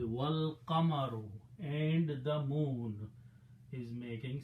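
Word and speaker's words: وَالْقَمَرُ: The moon, and then you put a waw means and don't pronounce this alif, so it will be wal qamaru, and the moon is making sajda.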